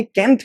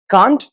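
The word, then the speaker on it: can't: रहे होंगे सर ये कैंट क्यों बोल रहे हो आप? दो प्रोनंसिएशन है इसके। कांट और कैंट। कांट ब्रिटिश प्रोनंसिएशन है और कैंट जो है वो अमेरिकन इंग्लिश के अंदर प्रोनाउंस होता है।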